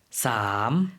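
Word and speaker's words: สาม: 것이 있었죠 일단 첫번째로 가장 유사해 떤 발음은 3 이었던것 같아요 태국으로 3 어떻게 바로 있었죠 싸움 예 좀 길고 성조를 넣어서 4 성으로 발음을 해 주시면 됩니다 또 반면에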